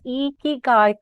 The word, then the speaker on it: Ikigai: I was told to pronounce this Ikigai coach.